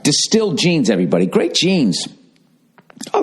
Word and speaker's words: Distilled: Distilled, pronounced distilled, offers luxury-grade denim at an affordable price.